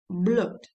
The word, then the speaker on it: blood: problems pronuncia these words many people say BL that is wrong the it is or this is blood so it's a very strong O blood and flood example